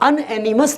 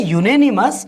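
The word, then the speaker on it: unanimous: है हमारा, परफिक्स है, लेकिन यहाँ अनएनिमस नहीं है दोस्तों, ये क्या है, यूनेनिमस, और इसके साथ में ए का प्रयोग किया जाता है।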